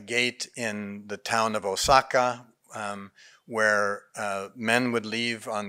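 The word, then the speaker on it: 逢坂: It's short, one syllable, but in old Japanese, the town of Osaka was pronounced with a double O, so it really even brings that dark O out even stronger. Osaka no seki.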